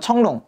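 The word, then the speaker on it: 成龙: 영화의 주인공은 청룽, 성룡이라고 우리 흔히 얘기하는데 예, 중국식 발음은 청룽이 됩니다.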